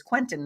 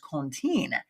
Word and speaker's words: Quentin: But he came back and said that the pronunciation of our last name, my last name is Quentin now. That's my married name. But when you go to the origination of your name from, it has the deep origination roots back to France. He said it's actually pronounced Contine.